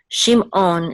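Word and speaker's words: שמעון: want so sh um Shimon is a little bit different in ancient Biblical Hebrew the is not just um silent it's actually gutural and it's like a klling on sound from Star Trek so it's okay shim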